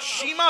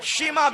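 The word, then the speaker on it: شيماء: शमा सही है, शीमा भी सही है। हालांकि, विद्वानों का मानना है कि शमा अधिक सटीक है।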